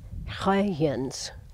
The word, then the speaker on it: Huygens: The first detailed observations, though, waited for famous scientist Christian Huygens, I think that's how you pronounce it, a Dutch astronomer, in 1659.